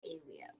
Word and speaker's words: Awia: Hi, my name is Awia. Yes. No. No. Okay, it's area or it's or it's Awia, which is area. Kind of like area, but with an E.